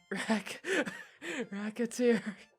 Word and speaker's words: Recettear: Mispronounce it even slightly and... Recettear? Recettear.